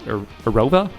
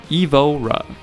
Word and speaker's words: Evora: Yes, the 3.5 L V6 from the Camry, the Sienna, and the Lotus Arova. Evora Evora, I think that's how you say it.